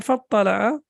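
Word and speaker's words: فاطلع: So whenever we have fa or wa before that, then this Hamza is not pronounced. So it became fattala'a fara'ahu fi sawa'il jahim.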